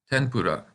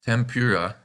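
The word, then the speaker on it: 天ぷら: Yep, tempura, which we call tempura in English. For some reason, the n kana sometimes gets changed to an M in English.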